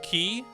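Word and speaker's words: quay: I actually remember words q u a y is actually pronounced key right like the like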